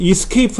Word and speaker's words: ESC: 2 esc 키 누르면 자 이거는 이스케이프 라고 읽어야 이스케이프 어 esc 라고 있는데 이스케이프 다른 말로는 탈출이 라고